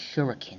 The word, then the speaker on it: shuriken: Showing how our histories are almost the same and Espio saying actually it's pronounced shuriken Amy.